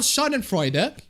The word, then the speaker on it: Schadenfreude: God, I sure love Schadenfreude. That's how you pronounce it.